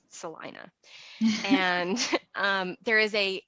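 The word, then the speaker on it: Celina: with it actually looks like Selena but it's pronounced Salina and um there is a an amazing barbecue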